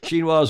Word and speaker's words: Xinhua: believe everything i read in wikipedia told you xinhua's a ministry level institution okay enough of all